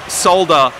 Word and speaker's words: solder: so uh you can't solder the components to it oh by the way Australians pronounce the L in solder you can't solder components